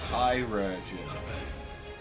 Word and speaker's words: chirurgeon: So it's chirurgeon.